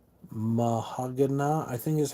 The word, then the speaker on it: Meshuggah: s h u g g a a h mahag I think is how you say it is how you pronounce it I'm hoping I did that right